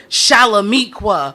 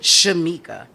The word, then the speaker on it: Shamika: girl name here but out loud you read chalamiqua sacajaweeda or Chiquita none of which are my name so let me spell it out for you plain my name is Shamika s for the Sands